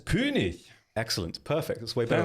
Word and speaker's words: König: So first, I will show you the German, the most German way you can pronounce it possible. The SMS König.